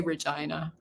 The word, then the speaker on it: Regina: I think but uh but we say Regina I don't know it's probably a Saskatchewan thing well my biggest thing